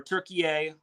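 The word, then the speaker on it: Türkiye: turkey or turke or turkey a sorry I forget that's the new pronunciation I gota remember it's turkey a not turkey so Italy swept turkey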